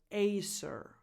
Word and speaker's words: Acer: Apple number 10 Acer Acer this is a Taiwanese brand but an English name again so aser aser now as I mentioned